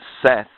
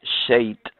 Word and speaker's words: Set: ancient Egypt that actually suit or Seth or shate you understand as it as its name is variously pronounce was actually a good